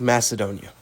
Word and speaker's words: Macedonia: Correction, it's pronounced Macedonia.